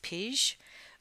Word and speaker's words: pij: Just a little bit of trivia: the name pea comes from the Dutch word pij, which I think it's pronounced pige, which means a rough wooden material.